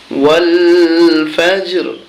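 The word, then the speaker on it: وَالْفَجْرِ: র জের রি, ওয়াল ফাজর। এখানে ওয়াল কোনো টান হবে না, টান দেওয়া যাবে না। উচ্চারণ হচ্ছে কি ওয়াল ফাজর, ওয়াল ফাজর।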